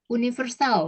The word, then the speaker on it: universal: Universal misalnya. Universal. Universal, tapi universal. Ada Y-nya.